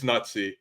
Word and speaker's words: Nutzypoo: It's Nutsy.